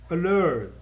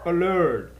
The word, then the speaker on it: alert: Alert, tem duas sílabas. Alert, alert. Também é exceção porque a sílaba tônica é a segunda e não a primeira.